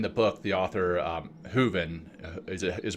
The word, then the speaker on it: Hooven: and uh in the book The author um hooven is pronounced hooven Melvin yeah she talks about you know what